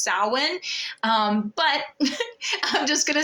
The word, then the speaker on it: Samhain: Sam Samhain sowin you know most people say sam Hein it is actually pronounced Salin um but I'm just gonna say that for